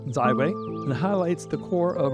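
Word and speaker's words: 自卫: finally the last two Chinese symbols represent self-defense pronounced zwe and highlights the core of our practice and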